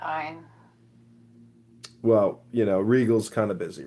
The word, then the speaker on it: Ayn: It's Ein. Ein Rand. Yeah. Ayn Rand.